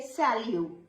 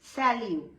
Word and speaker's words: salut: You can also say salut. T is silent, salut.